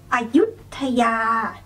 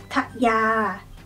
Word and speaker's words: Ayutthaya: The next one is Ayutthaya, Ayutthaya, Ayutthaya. Ayutthaya, Ayutthaya. So start off with go low, and then when you say the second syllable, yut, go high.